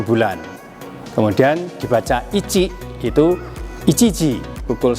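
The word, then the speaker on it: 一: dibaca dengan hitotsu, sedangkan cara baca ongyomi ini dibaca dengan ichi atau ich.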